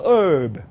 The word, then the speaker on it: herb: 영어로 이것이 이 모든 땅의 herb. 영국 사람들 발음은 herb예요. herb. 영국 사람들 herb라고 그러고 미국 사람들은 herb라고 그래요.